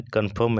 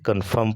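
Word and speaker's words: confirm: आई ये वाला आई तो ये आर उच्चारण नहीं होगा यहां क्या पढ़ेंगे इसे कंफर्म पढ़ेंगे क्या पढ़ेंगे कंफर्म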